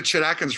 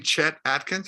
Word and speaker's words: Chet Atkins: into the record store i say i want to get a chat atkins record she says do you mean chet atkins i said no no